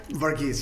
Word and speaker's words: Varghese: We are here with our friend Vargis. Did I say it right? Vargis. Yes, you got it.